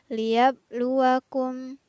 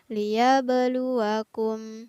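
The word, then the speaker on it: لِيَبْلُوَكُمْ: pada lafaz liyabluwakum nah di sini ada huruf ba yang bersukun di tengah ayat maka berlaku hukum bacaan qalqalah huruf banyaknya harus dibaca memantul liyabluwakum jadi kurang tepat jika kita membaca lihat luwak um tapi yang benar adalah dibaca memantul hurufba sukunnya liyabluwakum hai kemudian lafaz ayyukum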